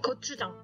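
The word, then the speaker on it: 고추장: Oh, gochujang. Yeah, I can't say that. How do you say that again? Gochujang. Gochujang. Gochujang. Like it starts with J.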